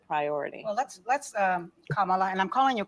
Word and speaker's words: Kamala: Well, let's let's um Kamala, and I'm calling you Kamala because for all of those who are mispronouncing it, I want you all to know how to say it.